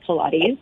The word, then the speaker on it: Pilates: this article, and then, they gave you the pronunciation, so Pilates.